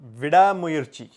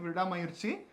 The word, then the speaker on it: Vidaamuyarchi: to talk about is VI mui did I say it right yes VI mui the the first time I think I said V mayi and some people helped me in correcting it so thank you so